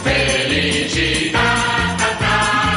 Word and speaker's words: Felicità: Felicità, l'accento sulla A.